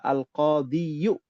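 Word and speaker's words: القاضي: Al-qadi aslinya adalah al-qadiyu. Aslinya ya. Jadi dibacanya al-qadi.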